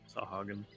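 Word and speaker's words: Sahuagin: Pronounce that? Sahagin? Sahagin.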